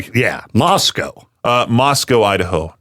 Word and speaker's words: Moscow: Moscow. So that way when I when I say that name to somebody, they don't go, "You're not from around here, are you, buddy?" Yeah, Moscow.